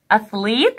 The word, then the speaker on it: athlete: athlete, خلي بالكو th انا معوداكو يا سنة خمسة ان هي ث or the. athlete, لاعب ألعاب القوة.